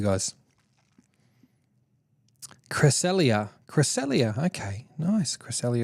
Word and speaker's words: Cresselia: Cresselia Cresselia okay nice Cresselia is how you say it thank you Shauna um